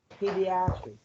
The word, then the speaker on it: pediatric: You pronounce this word as pediatric. Pediatric.